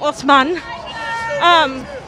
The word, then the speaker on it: Osman: in Beirut, Marwa Osman, I've been saying her name wrong, Osman, she was wondering why